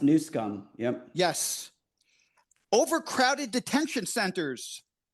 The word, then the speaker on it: Newsom: It's pronounced Newsom.